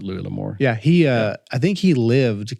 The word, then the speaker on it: Louis L'Amour: Or is it Lewis? Yes, it is. Okay. Yeah, I've never met him, but he's French in descent, so I would assume they probably do pronounce it Louis L'Amour.